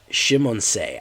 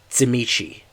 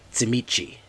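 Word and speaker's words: Tzimisce: even though he looked Shimonse. I've never heard it pronounced that way in my entire time. I've heard it pronounced Tsimichi, like as if it was Romanian. Tsimichi.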